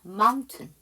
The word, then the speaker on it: mountain: mountain. 그쵸? MOUTAIN이잖아요. 그래서 거기 AI가 묵음이고요.